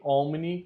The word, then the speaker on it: omni: Sanguis Christi omni gloriam et honori. Esse H ele é mudo, tá? Aqui também tem outra observação, temos o M e o N, os dois precisam ser pronunciados.